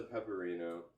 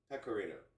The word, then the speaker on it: Pecorino: So this is the pepperino. Pecorino.